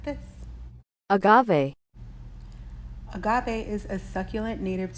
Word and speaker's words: agave: alternative to honey and you say like this Agave Agave is a succulent native to Americas it